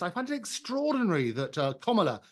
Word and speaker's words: Kamala: And I have to say that your last guest, I find it extraordinary that Kamala, and that's how you pronounce her name, she spent an absolute